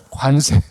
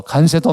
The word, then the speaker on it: 관세: 안동 사람이 제가 관인데 간세라 해 가지고 집사람이 발음을 잘하라 그랬는데 관세.에 에, 요즘 보면은 뭐 미국의 트럼프가 온 세상을 향하여이 관세를 전쟁을 합니다. 마음에 안 들면 뭐 간세도 막 올리고 전 세계를 향하여 마음대로 간세를 부과합니다.